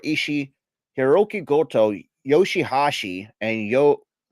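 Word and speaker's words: YOH: on the first show, you will see Okada, Tomohiro Ishii, Hiroki Goto, Yoshihashi, and Yo which is spelled YHO, Yep, yo.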